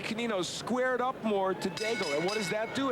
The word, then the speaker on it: Daigle: Her name is spelled that way, and of course most of the folks we deal with who are from Louisiana or the Cajun area would pronounce it Daigle, but not so up in the French.